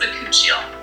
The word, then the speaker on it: bakuchiol: It's pronounced bakuchiol.